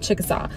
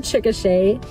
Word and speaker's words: Chickasha: So this one's always a little bit hard to pronounce because some people will say it Chickasaw. So I learned that it's actually the word Chickasha is the nation of